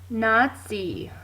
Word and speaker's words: Nazi: be spelled like this this is indeed how you spell Nazi even though you sometimes hear a t sound in it there is no t Okay a Nazi is